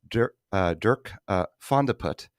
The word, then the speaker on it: Dirk van de Put: Right, and I'll use the Dutch pronunciation. I believe he's Dutch. Dirk van de Put made over $16.8 million last year.